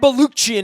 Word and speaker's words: Balukjian: First off, Brad Balukjian is here, kind of pronounced like Kirkchin, and who I interned under many, many years ago.